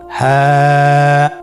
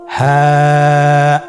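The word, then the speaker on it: ح: হা হরফটি উচ্চারণ ক্ষেত্রে অবশ্যই বারিক হবে এবং এক আলিফ টেনে পড়তে হবে। আপনারা আমার সাথে বলুন হ্যাঁ। হ্যাঁ।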